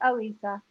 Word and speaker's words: Elisa: It's spelled Elisa, but it's pronounced Alisa.